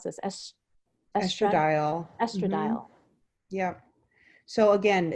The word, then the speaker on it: estradiol: a cannabis connection there so how do I pronounce this estradiol estradiol yeah so again it's just wonderful that you